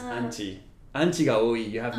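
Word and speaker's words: アンチ: And in this specific case, it comes from anti-fans. So, okay. The haters. That's how you're going to call them in Japanese. Anchi.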